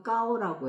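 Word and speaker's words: 糕: 그래서 그 떡 할 때 발음도 까오라고 해요. 중국 발음으로. 근데 그 까오는 높을꽃하고 의미 같아요.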